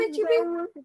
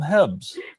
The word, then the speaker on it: HEB: I've heard of HEB. I always call them Hebs. I think it's pronounced HEB.